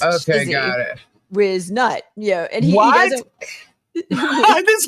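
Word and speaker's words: Whiznut: It's Shizzy Wiznut. So Whiz is spelled with an H. It's WHIZ. So it's Shizzy got it. Wiznut.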